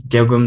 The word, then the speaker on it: Jagwe: My name is Jagwe.